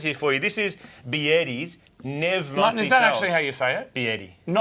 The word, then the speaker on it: BYD: This is Biedi, not BYD.